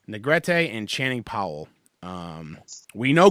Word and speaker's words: Negrete: I think it's Negrete. Negrete and Channing Powell.